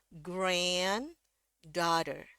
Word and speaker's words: granddaughter: Jadi kalau kita baca dari sini grand daughter. Grand daughter ya perhatiin em grand ini dia yang nadanya paling tinggi.